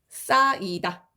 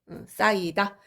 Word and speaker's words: 쌓이다: 자, 이런 경우에 앞에 오는 히읗이 똑 떨어집니다. 이건 발음상으로 떨어지는 거죠, 그죠? 너, 쌓이다.